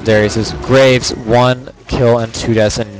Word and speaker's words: Graves: is better vane or graves and his graves with an s not a grave i'm sorry for mispronouncing